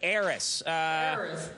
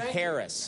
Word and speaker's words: heiress: flush down the toilet the H is silent okay confessions of an heiress all right yeah you said Harris and want to get